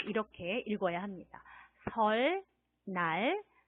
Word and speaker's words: 설날: 설날, 설날. 자, 따라해 볼까요? 설날, 설날. 그래요. 리을 받침하고 니은이 만나서 뒤에 오는 니은이 리을로 소리가 납니다.